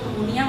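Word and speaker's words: pneumonia: इसका P silent है, आपने इसको नमूनिया बोलना है।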